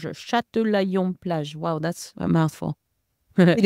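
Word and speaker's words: Châtelaillon-Plage: The town is Châtillon-Plage. Châtillon-Plage.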